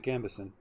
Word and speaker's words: gambeson: we just go back to uh crafting that gambeson that's how it's said you have splint on